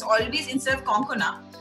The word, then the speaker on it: Konkona: have to say that a lot of people pronounce my name incorrectly, so it's always, instead of Konkana, it's always Konkana or.